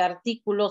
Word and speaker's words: artículo: Artículo, solo la A mayúscula. La palabra artículo lleva acento en la ti.